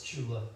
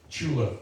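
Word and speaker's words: Tsula: Sure, it's Chula. Chula Walker. I knew I was going to mess that up. It's T-S-U-L-A, Chula Walker, a special agent with the National Park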